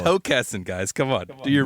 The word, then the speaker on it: Hockessin: It's Hockessin, guys. Come on, do your research. If there's one thing you should know about the Mid-Atlantic accent is that we're going to stretch that O.